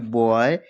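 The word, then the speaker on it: boy: Second है जब ओ के बाद कहीं भी लिखा हो ओ और उसके बाद क्या आए तो वाई आए। कहीं भी लिखा हो ओ ओ के बाद आई आए तो हम इसको आ ए की मात्रा से पढ़ेंगे।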